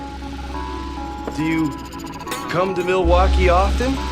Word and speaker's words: Milwaukee: Do you come to Milwaukee often? actually is pronounced milwauke for the good land.